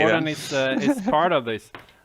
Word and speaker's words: Djurgården: Djurgården, yeah. So some people Interesting, okay. will say Djurgården maybe or something, but it's Djurgården. Yeah, that's how I usually pronounce it.